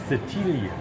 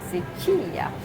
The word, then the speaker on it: Sicilia: So Sicily in Italian is Sicilia. Sicilia.